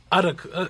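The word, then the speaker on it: Adetokunbo: Adetokumbo. Adakumbo. Well, I guess- Well, okay, the Nigerian pronunciation, like Camille's gonna like really pop for this. The Nigerian pronunciation is Adetokumbo.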